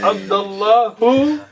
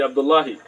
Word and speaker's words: Abdullah: And that's why a lot of the Somali brothers say Abdullahi. Because they're actually pronouncing it, but you should make sukoon, so just say Abdullah.